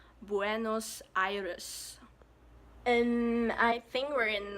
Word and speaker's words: Buenos Aires: capital L pronounced as Bruno's I used to pronounce Buenos Aires or but in Spanish it's Buenos Aires Buenos Aires and I think we're in North America right